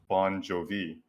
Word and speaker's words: Banjovi: His spelling is B-A-N, banjo, and then V. But if you say it like quickly, it's Bon Jovi, right?